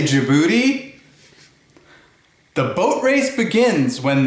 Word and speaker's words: Djibouti: one's a lot of fun D is for Djibouti can you say Djibouti the boat race begins when the handsome judge